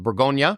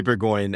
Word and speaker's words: Bourgogne: We released Bourgogne, or Burgundy, about last Sunday.